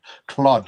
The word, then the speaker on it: Claude: Anyway, please get the pronunciation pronunciation of my name right. Cloud or Claude. Claude.